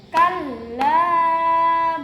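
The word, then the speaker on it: كلا: Kalla balla tuhrimunal yatim. Nampak bedanya ya? Nah, dari mulai kalla la bacanya dipanjangkan 2 harokat ya, bacanya dipanjangkan 2 harokat.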